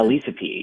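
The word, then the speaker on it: Elisapie: And then on the 13th, and I might be mispronouncing Elisa Pie, Elisa Elisa P. Yes. Elisa P.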